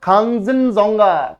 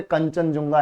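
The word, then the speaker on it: Khangchendzonga: इसका नाम है खंगिनजोंगा। खंगिनजोंगा अब हम इतना लोड नहीं लेते इंडिया वाले खंगा हम बोले कंचनजंगा है ये कुछ नहीं है ये कंचनजंगा है ठीक है तो एक्चुअल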